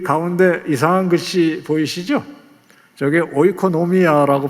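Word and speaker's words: οἰκονομία: 저게 오이코노미아라고 발음하는이 섭리 또는 돌보심에 해당하는 말입니다.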